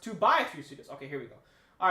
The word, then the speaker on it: 2x3 Studios: all right all right it's not pronounced 2x3 Studios it's pronounced two by three Studios okay here we go